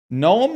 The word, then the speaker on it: gnome: Gnome and mnemonic have the silent letter at the start.